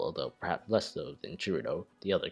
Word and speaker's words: Cirno: This is why Chur-no is the best pronunciation. It's based on the Japanese pronunciation, reasonable for the English spelling.